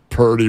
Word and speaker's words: Purdy: me throw it around Purdy rhymes with 30 but also 30.